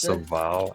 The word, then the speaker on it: Serval: It's pronounced Serval, actually. Serval, yeah, Serval.